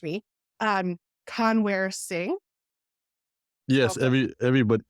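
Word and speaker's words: Kanwar: properly uh discover um The W and the V the V and W get interchanged in Punjabi so it's cover um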